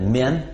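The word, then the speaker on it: men: Множественное число «мужчины», слово «мужчины» – это «мен», от слова «мужчина» – это «мен».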